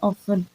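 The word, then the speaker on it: often: ऑन यानी के अक्सर इसमें टी साइलेंट आ रहा है ऑन इसको पढ़ेंगे ऑन leads to uh sales Leeds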